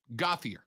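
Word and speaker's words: Gauthier: gother got goth gothier gothier uh colton gothier are you sure i'm a hundred percent sure and you'll know why in just a second right because i've heard his last name pronounced a hundred different ways it's uh colton goffier is a quarterback for the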